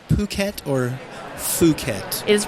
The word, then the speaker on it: Phuket: I guess the first thing we should get out of the way, do we pronounce it Phuket or Phuket?